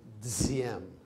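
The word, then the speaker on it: Diệm: If you put a bar across it, you pronounce it Diem.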